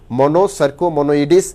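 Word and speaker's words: Monocercomonoides: হচ্ছে যে মনোসার্কো মনোইডিস, উচ্চারণটা হবে মনোসার্কো মনোইডিস।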